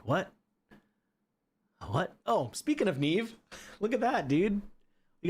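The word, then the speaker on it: Naiamhe: I used to call her Niami cuz it's spelled N A I A M H E. So, I thought it was Miami. Like, I'm visiting Miami, but no, it's Neve.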